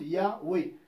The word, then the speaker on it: Yahweh: C'est juste pour le prononcer, parce que en hébreu, il n'y a pas de voyelle, il n'y a que des consonnes.